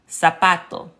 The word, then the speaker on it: zapato: Learning to recognize the pattern that the Spanish Z indeed sounds like the American S. So corazón, zapato. So that is a pronunciation tip that will help you to sound more fluent.